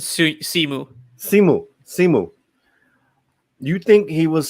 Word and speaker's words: Simu: Do you think Shimu or Shimi? I say pronounce it Simu.